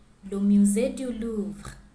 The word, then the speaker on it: le musée du Louvre: Paris is known for its attractions, and here is how you pronounce them in French. La Tour Eiffel, le musée du Louvre, la Seine, la cathédrale Notre-Dame, Jardin du Luxembourg, Arc de Triomphe, Montmartre et Sacré-Cœur, Centre Pompidou.